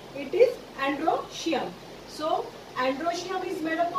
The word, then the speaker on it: androecium: Androecium, break this word, androecium, E is silent.